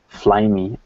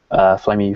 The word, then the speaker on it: Flyme: They introduced a bunch of other things, other features and stuff, and Flyme is how they were pronouncing it, so I guess that's how you pronounce their OS. Flyme 4.1. So there's like MPay, which